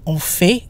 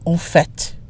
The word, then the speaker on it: en fait: And notice the pronunciation. F-A-I-T, which in this case is a noun that means fact, can be pronounced fait in other instances, but not in this expression. We don't say en fait, we say en fait.